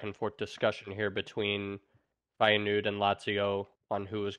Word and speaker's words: Feyenoord: Did I even pronounce that right? Yeah, Feyenoord, close enough.